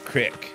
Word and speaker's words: creek: I've always pronounced it creek, but in this game they call it crick.